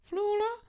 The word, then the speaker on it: Flula: flula thanks for watching solapalooza solar panelsa rhymes with my name which is fauna kind of flula palooza yes thank you for watching thank you